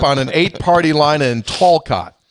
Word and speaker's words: Talcott: Talcott. Excuse me? Talcott. Get the L out of there. Talcott. Where is it? It's in West Virginia. Talcott. No L. Talcott. Talk it.